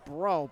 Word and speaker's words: Breaux: And it's Anthony Breaux, B-R-E-A-U-X, running the clock. But pronounced Bro, B-R-O.